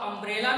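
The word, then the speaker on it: umbrella: अब अम्ब्रेला में भी यू है लेकिन यहां इसके पहले आयन लगेगा। अब आपने देखा यहां यू जरूर है लेकिन इसका जो उच्चारण है वो आ है, इसलिए आयन का प्रयोग जो होगा वो आ से आह तक, आ से आह तक की साउंड।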